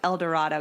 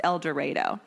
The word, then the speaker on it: El Dorado: pretty sure it's elero cuz I would have pronounced it El Dorado Kansas but it's apparently pronounced eloro so anyway he went to Butler Community College